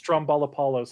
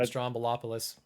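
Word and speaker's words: Stroumboulopoulos: it oh really yeah or george stromball apollos i think is the correct pronunciation oh i always call him strombolopolis whoops it just sounds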